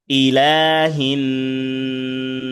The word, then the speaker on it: إله: ইলাহিন নাস। বলেন সকলে। إله إله الناس الناس. ইলাতে খাড়া জবর আছে, লাম খাড়া জবর লা, একের মধ্যে হরকত এক আলিফ টানতে হবে।